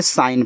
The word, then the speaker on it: sign: जैसे आपके यहाँ पे हो गया SIGN, देखो आपके यहाँ पे जो जी है साइलेंट है, जिसको हमने साइन पढ़ा है।